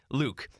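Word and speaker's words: lewk: word is my name not spelled the same way luke l-e-w-k i had no idea what this word was all i knew is that was pronounced like my name luke so what it is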